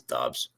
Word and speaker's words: Dobbs: Do you think Dobbs is going to be anything in Green Bay? Everyone wants to call him Doobs. I like to call him Doobs because I like to smoke Doobs. That's Dobbs. Stupid.